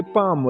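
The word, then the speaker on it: palm: तले तलित इंग्लिश के पाम ले पाम दलता बतास एल बिल्कुल साइलेंट हड के हड कीत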